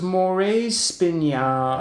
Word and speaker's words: Morae Spinae: that one uh well it was moire's spinya i think is the pronunciation i think i had